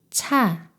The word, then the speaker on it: ㅊ: 자, 차, 자, 차.